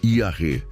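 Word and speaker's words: יָרֵא: Para entendermos a natureza deste temor reverente, podemos olhar para a palavra hebraica Yare, se pronuncia Iaré. Iaré é uma palavra complexa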